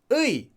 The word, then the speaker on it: 의: When oi comes at the beginning of a word, 의. When 의 comes at the end of a word, it's often pronounced as e.